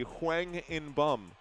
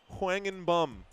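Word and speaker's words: Hwang In-beom: And if it's pronounced the right way, it would be Hwang In Bum.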